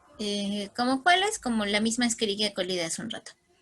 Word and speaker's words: Escherichia: Escherichia, pero se pronuncia Escherichia como si fueran Ks, ¿sí? Estas ches siempre suenan como Ks.